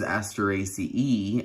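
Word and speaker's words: Asteraceae: those pronunciations is that the AE Latin diphthong is usually and supposed to be pronounced I though I hardly hear anyone say asteracyi every once in a while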